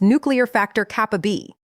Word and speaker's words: NF-κB: in the body called NF-κB, pronounced nuclear factor kappa B.